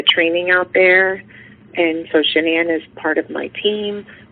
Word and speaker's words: Shanann: Sh- It's Shannan.